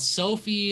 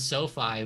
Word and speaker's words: SoFi: either one's fine right i think i hear so many people call it sophie and then people called sofi and i don't know but i guess i'll just stick with sofi but yeah it's uh it's